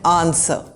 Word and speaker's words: answer: Similar words are to and answer. The W is not pronounced.